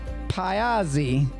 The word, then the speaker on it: Pazzi: Mary Magdalen of Pazzi. Did I say it right? It's close enough. Close enough. Well, how would you say it? We normally just say Pazzi.